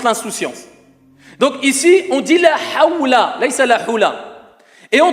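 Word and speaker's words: حول: La hawla, ce n'est pas la hula.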